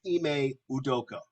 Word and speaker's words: Ime Udoka: only one that keeps butchering his name or mispronouncing his name so it's ime udoka it's your doga that's what i just said